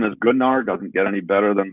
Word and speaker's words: Gunnar: No D. Gunnar. Gunnar. Oh, there's no D on the end.